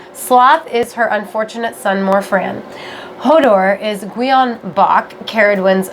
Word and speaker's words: Morfran: So, how the heck do you pronounce her son's name again? Morfran.